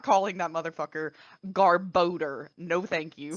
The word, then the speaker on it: Garbodor: And the best part is like I always pronounced it Garbodor in my head, or like you said. Apparently, canonically, it's literally called Garbodor, and I refuse to acknowledge that as fact.